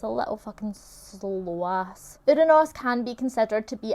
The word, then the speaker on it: Uranus: Uranus. I like to say it like Uranus rather than Uranus, or Uranus, because that sounds so disrespectful.